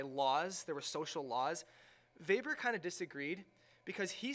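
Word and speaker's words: Weber: least we have Max vber even though his name has a w he's German so he pronounce the W as a v he was a German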